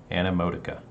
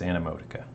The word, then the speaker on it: Animotica: for checking it out this is emoticon or wait is that how you say it an emoticon anna that's going to trip me up all the time animotica it's animotica i'm pretty sure that's